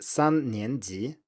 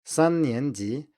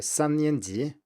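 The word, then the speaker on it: 三年级: third grade in Chinese, that would be 3年级. So that's first tone, second tone, second tone. 3年级. But what many people say here is actually 3年级 with a first tone on the middle syllable.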